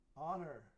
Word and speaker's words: honor: you're the D describe describe describe disguise disguise honor honor no hear the h going to hear